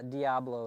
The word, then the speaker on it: Diablo: I mean, normally Diablo is how we normally would pronounce it, but here it sounds like it's pronounced Diablo. Well, you have to excuse me because I am from the Northeast, so I do have a little bit of slang different. But yeah, Diablo is the correct pronunciation.